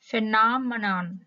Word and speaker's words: phenomenon: các bạn thấy không cái A này á mình phát âm là cái kiểu mà nó nghiê qua iê y ê nhưng mà các bạn sẽ nghe những người một số người họ có có thể phát âm là cái cái cái e này á là họ phát âm là ơ các bạn ha không phải là iê iê nữa mà là ơ các bạn ha và